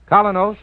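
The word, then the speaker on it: Kolynos: You can get Colinos at any drugstore tonight. That's spelled K-O-L-Y-N-O-S. Colinos Toothpaste.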